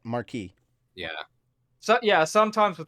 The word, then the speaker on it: Marquis: Yeah, Marquis. You don't. Yeah. The S is silent. Marquis.